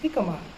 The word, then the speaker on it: jicama: Even though it's spelled Gicama, but it's pronounced jicama.